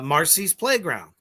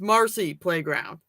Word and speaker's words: Marcy Playground: Marcy's Playground. Didn't even say it right. Said Marcy Playground. It's Marcy's. Is it? Almost positive. You're wrong. It's just Marcy. It's Marcy Playground.